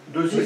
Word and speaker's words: Desies: Donc Desi, ça se prononce comme ça. Desi, théoriquement, Désiès pour la phonétique.